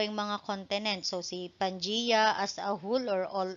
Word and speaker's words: Pangaea: When we were in elementary, naririnig natin Pangaea. So it is pronounced as Pangea, spelled as Pangaea.